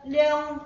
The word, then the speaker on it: Leong: The first speaker, Toastmaster Madhura, and it's my pleasure to welcome her evaluator, Toastmaster Leong Hong. Did I pronounce the name correctly?